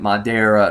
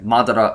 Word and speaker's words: Madara: Yeah, I said it right this time for all of you that said, oh, you're pronouncing it Madara. No, okay, Madara Uchiha. Yeah, there you go.